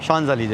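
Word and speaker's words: Champs-Élysées: कहते हैं शज अलीजे और स्पेलिंग अगर देखेंगे तो नाम पढ़ ही नहीं पाएंगे वो ऐसा लगता है चमसेल से लिखा है अगर हम अपनी तरह की इंग्लिश पढ़ेंगे तो लेकिन कहा जाता है शज अलीजे चलते हैं देखते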